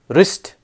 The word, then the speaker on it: wrist: um H is silent wrist W is silent com B is silent